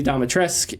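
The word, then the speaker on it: Dimitrescu: um but yeah and and i met lady domitresk and yeah she did i pronounced that right yeah yeah well it's yes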